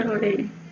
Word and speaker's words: surely: Surely.